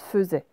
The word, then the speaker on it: faisait: Alors, attention, faisait, en fait, c'est une vraie exception en français. En fait, ça se prononce faisait.